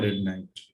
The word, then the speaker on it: Red Knight: Asia रह जाता है, बट उसका एक्चुअल प्रोनाउंसिएशन है रेड नाइट.